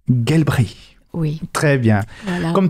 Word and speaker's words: Gelbrich: D'accord, je vais prononcer à l'allemande, c'est Gelbrich. Gelbrich.